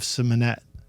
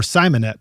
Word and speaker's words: Simonett: Jennings, Dement, and Dave Simonett. Or Simonett is probably how it's pronounced. Simonett. Right? Simonett. Oh, I had it right the first time.